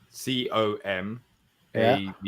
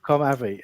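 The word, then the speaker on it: Comave: how' you spell com ay our wonderful sponsor c o m a v e because it's it looks like comav doesn't it com a yeah but they pronounce it ay apparently com ay anyway yeah I um yeah I I saw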